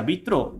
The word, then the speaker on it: Vitraux: Se pronuncia Vitro y se escribe como lo escribió Julio Vitrox.